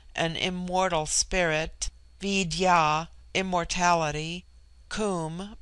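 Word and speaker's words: Koom: immortal Spirit viya immortality Kum pronounced like the Welsh Kum denotes something of holess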